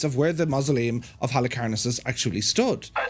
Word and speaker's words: Halicarnassus: wonders of the ancient world, the Mausoleum of Halicarnassus. That's how we pronounce it.